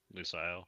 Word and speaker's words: Lusail: Is that how you say it? Lusail? Lusail, yeah.